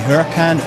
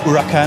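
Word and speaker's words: Huracán: is driving the Lamborghini Huracan urakan I believe it's pronounced which is our hero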